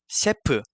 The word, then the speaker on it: 셰프: So for example, a chef is 셰프. I know that it's a monosyllabic word in English, but in Korean it becomes a disyllable.